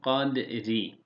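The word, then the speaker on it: قدر: Kadr. Dala vurgu yapıyoruz. Ra'yı kalın telaffuz ediyoruz.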